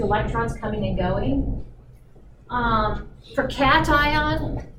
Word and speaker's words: cation: coming and going for cation sometimes pronounced ocation no no you think of the cat the big t there okay cations are positively